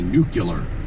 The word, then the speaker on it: nuclear: about nuclear energy is grown adults that can't pronounce the word right and say nuclear almost i mean come on it's nuclear even